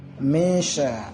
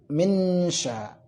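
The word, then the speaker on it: مِنْ شَرِّ: Yang pertama, membaca samar-samar antara nun dan sya, misha gitu, insya gitu ya, insya gitu. Nah, yang kedua, boleh dibaca berdengung tapi siap mengucapkan huruf berikutnya. Contoh, minsya, minsya.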